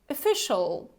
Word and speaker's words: official: repeat after me official official so actually have a look at the beginning we don't have this o right we also have this schwa sound so this very